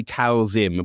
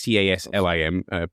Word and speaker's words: Taslim: I always say Talzim, but it's Taslim.